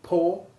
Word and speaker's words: poor: with pool or fool can also be correctly pronounced with the double a4 sound of door and floor to make poor more and moreish this last word then rhyming with the funny adjective moorish meaning so delicious to